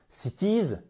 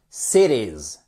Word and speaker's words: cities: On ne dit pas cities, mais bien cities. On ne dit pas city, on dit city.